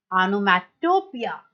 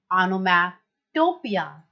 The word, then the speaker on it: onomatopoeia: Pronunciation है इसका ऑनोमैटोपिया, ऑनोमैटोपिया।